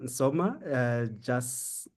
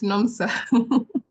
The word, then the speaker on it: Nomsa: And please welcome Soma. I hope I've pronounced your name very well. Come through and give your introductions. Yes. Okay, hi, it's Nomsa. Nomsa. Aish, Nomsa. Yes. Apologies. I will get that one right immediately.